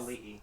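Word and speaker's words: Auli'i: And Alui, that's how you say her name? Yes. Ali'i.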